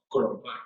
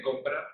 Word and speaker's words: comprar: Crompar. Soy muy fósforo tuyo. Crompar también. ¿Cómo? Crompar. En vez de comprar, crompar. Crompar.